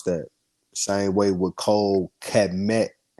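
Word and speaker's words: Kmet: Same way with Cole Kemet, not Kemet. Kemet is pronounced K-E-M. That's the first sound in E. His name is the K and the E is a sound connected to Met.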